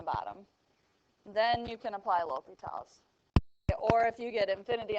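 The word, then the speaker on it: L'Hôpital's: okay so it's pronounced l'hopital's but it's spelled l in an apostrophe hospitals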